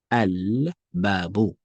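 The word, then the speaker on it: الباب: So you see here, I'm saying al. So it means that the ba is what? Is a moon letter. So with the moon letter, you clearly pronounce the alif or lam, the two definite articles.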